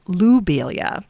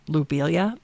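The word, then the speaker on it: Lobelia: But now knowing the French pronunciation of his name, I will say it louilia. It's a subtle change. Lo versus Lou. But after all, the plant is named in Matias's honor. So, lubilia it is.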